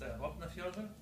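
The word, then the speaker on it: Vopnafjörður: it's pronounced Vapenfjord, and Vapenfjord is a fjord in Iceland. It's actually pronounced Vapnafjordur. So Vapnafjordur is named Vapnafjordur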